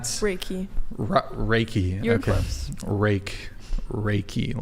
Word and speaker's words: Reiki: Reiki, like a rake.